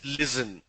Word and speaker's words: listen: Listen. Okay? This is how you pronounce listen. Lot of people pronounce that as listen. Listen to me, listening skills. It's not listen. It's listen. It's a S sound.